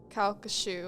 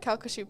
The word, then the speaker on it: Calcasieu: the visitors and the employees working on the calc shoe oh I said it right calcushu Parish are convinced that Henry spirit is still